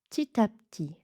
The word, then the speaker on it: petit à petit: Tit à petit. Donc pareil, le P. On ferme les lèvres. Ti, ti, mais on ne prononce pas le P.